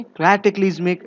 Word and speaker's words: cataclysmic: Okay, कैटेक्लिज्मिक इज the right pronunciation of this word.